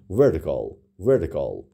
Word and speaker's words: vertical: اوکی، vertical تلفظ امریکاییش زیاد تی نمیگیم، همون کلا میگیم vertical.